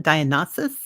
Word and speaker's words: Dionysus: How do you pronounce that? Dionysus?